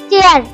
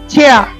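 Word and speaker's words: chair: চেয়ার, চেয়ার, চেয়ার, আসলে এটা শুদ্ধ উচ্চারণ হবে ছেয়া, ছেয়া। সবাই বলো ছেয়া।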